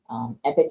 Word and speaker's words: EPC: EPIC is the E-rate Productivity Center, acronym, the letters EPC, but it is pronounced EPIC.